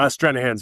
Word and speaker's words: Stranahan's: Just with you saying about Stranahan's, is that how you pronounce it? Stranahan's? Stranahan's, yes.